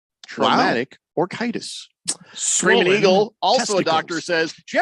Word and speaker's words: orchitis: Traumatic orchitis. Traumatic orchitis. Screaming Eagle, also testicles. A doctor, says, Jeffrey, you pronounced it correctly.